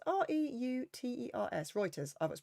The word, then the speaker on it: Reuters: some wine sources for objective news reporting include Reuters isn't it Reuters r-e-u-t-e-r-s Reuters oh that's pronounced it and NPR with my cold I